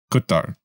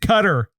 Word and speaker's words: Qatar: Qatar. Yeah, exactly. So it's that not sounds just offensive. It's But, not just cutter.